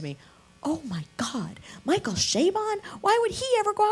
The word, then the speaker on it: Chabon: And I mispronounced his name, Michael Chabon, Shea Stadium, Bon Jovi, Chabon.